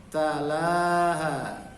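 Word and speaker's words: طَلَاهَا: Tala, la-nya panjang, talaha.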